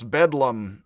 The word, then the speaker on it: Bedlam: fools or the madhouse bedlam, I think it is the lower class British way of pronouncing Bethlehem hospital is bedlam.